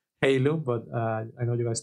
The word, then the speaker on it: Heilung: Someone told me that Heilung is the correct way to pronounce it. It's kind of weird because in my brain I have to trick it to say Heilung and not Heilung because as a native Spanish speaker, actually I want to